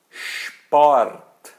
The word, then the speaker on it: Sport: e assim por diante o SP é como se fosse XP tá então fica Sport Sport spil tá pode